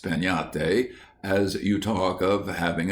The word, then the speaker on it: piñata: But everywhere, children would be talking about breaking a piñate, pronounced peñate, as you talk of having a tree.